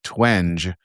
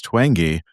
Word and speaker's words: Twenge: corrected me and said it's Twenge with a hard G.